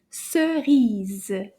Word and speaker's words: cerise: So let's see if we can find out how many, combien, how many syllables in this word. Cerise. Can you say that? Cerise. Let's try it again. Cerise. That's deux syllabes.